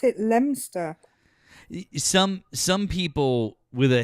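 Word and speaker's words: Leominster: Uh, number one, I know how to pronounce Lemonster. Uh, not Leo Minster like some of you. We pronounce it. We pronounce it Lemster.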